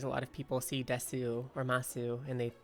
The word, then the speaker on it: desu: word so for example you know how desu d-e-s-u is actually just pronounced desu or masu is actually known as moss i can see that